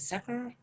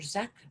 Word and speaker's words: zikr: And meditation is the foundation for all of the different orders, along with prayer and remembrance, which is known as zikr or zek. It has different pronunciations, but it's the chanting and repeating of the names of God.